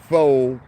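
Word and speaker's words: faux: now with all that foe that's spelled f-a-u-x meaning false fake with all that full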